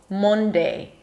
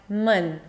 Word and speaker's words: Monday: Although there is an O, it's not an O, Monday, but mun, like month, like cup, like sun.